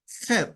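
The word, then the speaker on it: חית: Head itu agak sedikit dimainkan gitu ya. C dan H-nya itu head.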